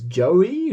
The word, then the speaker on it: Joie: On this album, he's known as Joey. Joie is how it's spelled.